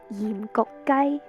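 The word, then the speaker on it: 鹽焗雞: In Cantonese, it's pronounced yim gok gai.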